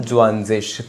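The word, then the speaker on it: zwanzig: Drian ज्वंजिश 23 को Drian ज्वंजिश 24 को लिख सकते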